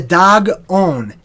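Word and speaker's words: Dagon: thee right so the dog own da G is pronounced just like the animal dog okay aaaghh the dog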